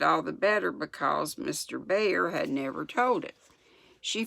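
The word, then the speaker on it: Bhaer: to say it bear I guess it's like better be har I've been saying bower but it's more like bear I think Joe valued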